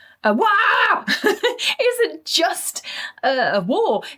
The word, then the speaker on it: WAAAGH: WAAAGH, which is essentially, if you're ever wondering how to pronounce it, just imagine you've just stood on Lego and stubbed your toe at the same time. WAAAGH isn't just a war, it's a full-blown galactic event.